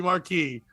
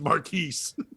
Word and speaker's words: Marquis: He's supposed to be Marquis, but he's Marquise because it's the Mercury Marquis, but he said it wrong.